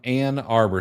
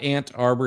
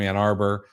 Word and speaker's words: Ann Arbor: So what is it with these people from Ann Arbor? So it's not Ant Arbor, it's Ann, A-N-N Arbor.